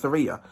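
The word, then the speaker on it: Tsireya: bass as um as Surya even though the t is silent and in life and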